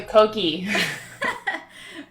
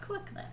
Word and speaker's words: kokle: I thought it was a koki. Kwakle. 3, 2, 1. Kwakle. Kwakla. Kwakle. Yes.